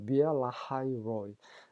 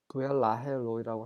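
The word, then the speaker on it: Beer-lahai-roi: 비엘라하이 로이. 우리말 성경에는 부엘라헤 로이라고 하는데 영어식 발음은 비엘라하이 로이라는 거.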